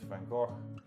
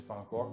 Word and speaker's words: Van Gogh: And so you will find, for example, in artists like Vincent van Gogh, his name is Van Gogh, by the way.